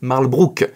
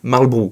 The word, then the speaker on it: Marlbrough: pas ah oui et apparemment on est censé prononcer marlbrook et non pas marlbu mais bon aujourd'hui tout